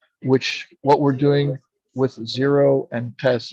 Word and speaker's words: Zhero: We can start delivering completely clean energy, which what we're doing with Zero and TESS. Zero is my holding company. It's spelled ZHERO.